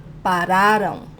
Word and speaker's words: pararam: In this plural form of vocês, eles, elas, very important to place the emphasis on the second to last syllable, because if you place the emphasis or the stronger syllable as the last syllable, you're actually conjugating the future form, not the past tense.